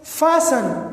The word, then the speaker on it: fasten: दूसरा जो पैटर्न है STEN, जब ये STE साइलेंट होता है. ठीक है. Like fasten, FASTEN, hasten.